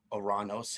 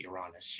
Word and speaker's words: Uranus: And then you have Uranus and Neptune. Okay, with Uranus and Neptune, or if you want to pronounce it Uranus, you would need a telescope to see those planets.